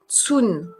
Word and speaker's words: cun: Tsun, c'est la mesure, ça s'écrit CUN.